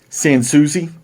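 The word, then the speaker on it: Sans Souci: here's our next one san souzi saying susie there was a one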